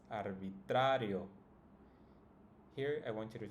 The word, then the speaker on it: arbitrario: In this case, it's always going to be the second to last. So if we count starting from the end, this would be the first syllable, yo, and the second one would be sa. So that's the one that should be pronounced the strongest.